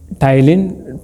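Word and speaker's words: ptyalin: 3 to 5% ऑफ the digestion is carried in the mouth bye टाइलिन, PT, ये spelling आप पर देख ली, पी से स्टार्ट होता है, टाइलिन या अल्फा एमाइलेज भी हम कहते हैं, सी।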